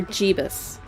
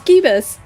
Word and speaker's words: Gibbus: Is it Gibbus or Jibbus? Cuz I keep going back and forth on how I think that should be pronounced and I don't know how you're going to tell me if it's Gibbus or Jibus in chat. It's Gibbus. It's Gibbus.